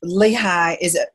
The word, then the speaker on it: Lehigh: And Lehigh, am I pronouncing it correctly, Lehigh Valley?